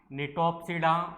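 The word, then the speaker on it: Gnetopsida: कौन सा है इसका, निटोप्सिडा वर्ग है। यहाँ पर जो ये जी होता है ये कैसा साइलेंट रहता है।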